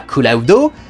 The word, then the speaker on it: Cloud: je ne comprends pas pourquoi est-ce qu'on prononce Cloud dans sa version anglaise d'origine et pas Kulaudo si on garde la version japonaise de Sephiroth.